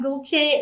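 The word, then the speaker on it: Gülce: If we're meeting for the first time, hey there, I'm Gulce, rhymes with Dolce.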